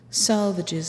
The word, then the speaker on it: Salvages: of Cape Anne Massachusetts salvages is pronounced to rhyme with the swages groaner a whistling buoy